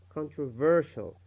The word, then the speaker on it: controversial: For example, when we read this word, we read it as controversial, controversial.